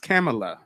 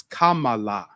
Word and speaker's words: Kamala: like we thought and her name isn't pronounced camela we butcher it we call it her camela no it's Kamala Kamala I'm a real